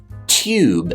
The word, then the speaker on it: tube: or new or youtube a british english speaker will keep the yes sound in there saying things like tube and new and youtube so i'm working on a new youtube video a new youtube video